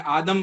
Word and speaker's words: आदिम: शंकर जी कहते हैं, आदम भी कहते हैं, आदम चूंकि संस्कृत वर्ड है, आदिम कहते हैं, संस्कृत में उसका प्रोनाउंसिएशन आदिम होता है।